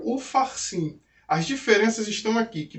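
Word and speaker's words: Upharsin: peixes ê passinho porque na hora da pronúncia a gente fala Mene Mene tequel ufarsim as diferenças estão aqui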